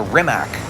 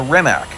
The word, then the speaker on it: Rimac: familiar with this car A lot of people are calling this a rimac no it is not a remac this is a Croatian name the man who invented this car who owns this company well it's now uh remat Bugatti combined really cool actually his real name is Ratz that's how you say that in Croatian uh his first name